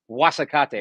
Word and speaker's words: Guasacate: Guas, whatever you spell it, but it's pronounced Guasacate, right?